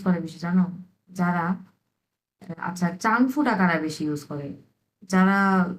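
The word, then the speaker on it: 丈夫: প্রথমটা আসছে কি চাংফু। চাংফু। হ্যাঁ চাংফু, এরকম। এটা কিন্তু চয়ের উচ্চারণ, এই যে চাং চাং, চাংফু।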